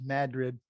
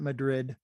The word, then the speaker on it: Madrid: in the north country by the way it's pronounced madrid not madrid into norwood we'll talk about norwood in detail